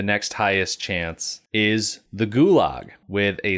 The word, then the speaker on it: Gulag: it wrong because it's pronounced closer to Gulag with more of a GK combination sound.